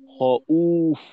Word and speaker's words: خوف: তো এখানে অ ওফ না, এখানে যে আমরা টানটা দেব, এটা খ ওফ না হয়ে হবে হ উফ, হউফ। টানটা হবে হউফ। হ দীর্ঘ উ আর ফ, হউফ, এরকম।